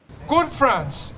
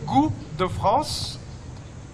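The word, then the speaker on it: Goût de France: mismong mga Fr chef ang nagtuturo sa pagluluto good France in French it's actually gr the France literally that means taste of France It is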